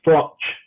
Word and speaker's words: Froch: boy czech frog well it's actually pronounced frotch with a chip at the end yeah there you go